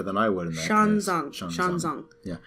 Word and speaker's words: Xuanzang: You would probably know better than I would in that Xuanzang. Yeah, because the X is like it's kind of like a sh.